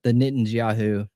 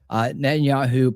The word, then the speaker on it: Netanyahu: I just want to run through the net and the Netanyahu. I'm saying it wrong. Netanyahu press conference is about 15 minutes.